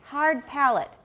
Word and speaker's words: palate: that in a minute so in english it's hard palette try it hard palette not heart excuse me i just i pining on microphone everybody hard good hard palate not heart some of you are saying heart hard good hard palate that sounds better so in the negation